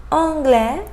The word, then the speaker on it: anglais: Final S examples: français, français, anglais, anglais, tapis, tapis. Final T, petit, petit, étudiant, étudiant, président, président. So final S and final T, I didn't pronounce them.